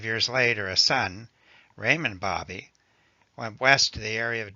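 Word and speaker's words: Baby: my name is Raymond Bobby the name may be spelled be ABY but it is pronounced Bobby as in hobby please just call me Raymond the Bobby family goes back a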